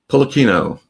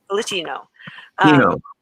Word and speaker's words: Pulichino: That's how I pronounce it, right? Pulichino. Pulichino.